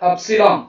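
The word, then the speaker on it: upsilon: இது பாக்குறதுக்கு யூ மாதிரி இருந்தா கூட நம்ம கிரீக் லெட்டர் அப்சிலான் அப்படின்னு நம்ம ப்ரொனவுன்ஸ் பண்ணணும்.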